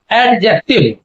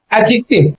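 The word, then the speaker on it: adjective: ज्यादातर लोग इसका प्रोनाउंसिएशन एडजेक्टिव इस तरीके से करते हैं, लेकिन इसका प्रोनाउंसिएशन एडजेक्टिव ना होकर के इसका प्रोनाउंसिएशन है एडजेक्टिव।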